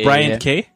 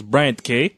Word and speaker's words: Bryant: Or it's Brian K. Yeah. Sorry, I totally said your name wrong. It's Bryant K.